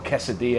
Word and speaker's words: quesadilla: We've all seen a quesadilla before, or quesadilla as you say it properly, but they take these things to the next level.